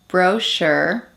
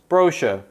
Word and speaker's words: brochure: English and British English there is a tendency for lone words often from French to be stressed on the first syllable by Brits whereas Americans put the stress on the second syllable for example adult adult